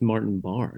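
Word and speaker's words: Martin Barre: It's pronounced Martin Barr, Nick. Oh. Yeah. I've been reading it wrong. It's one of those English American things.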